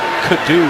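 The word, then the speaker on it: Kaddu: working the pass number 57 first down that is on Josh Kadu Josh Kadoo is actually the way they pronounce it big play for the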